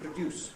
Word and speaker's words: produce: in general, is that the verb has the stress on the second syllable, like conduct and produce, right? But the noun, or an adjective if there is one, has the stress on the first syllable.